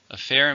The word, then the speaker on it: affair: Affair means a situation, usually a difficult situation. It's a noun and countable. How many syllables are in affair?